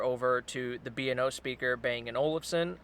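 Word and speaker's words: Bang & Olufsen: to the bno speaker bang an Olson I believe that's how it's pronounced and it's mixed reviews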